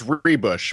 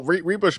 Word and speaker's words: Ruebusch: It's Rebush, but it's okay because Well, re rush makes no sense given the spelling, so I don't really ever get upset about it. The U is silent, right? Yeah, pretty much. Yeah, it it I think it it it's silent or it it pretends that it's the other order of letters or something.